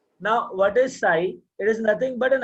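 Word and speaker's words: psi: तो wave function जो है वो साई है। नाम क्या वेव फंक्शन का? साई। पी साइलेंट है, साई बोलते हैं।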